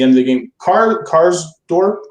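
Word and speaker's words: Karsdorp: um at the end of the game car cars Dorp right that's how you say it Chris yeah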